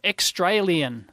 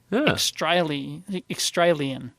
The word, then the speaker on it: Xtralien: So, Extralian. Oh, I hate it already. So it's like extra alien, or it's like rhymes with Australia. Extralian.